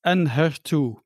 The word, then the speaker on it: Enhertu: It's Enhertu.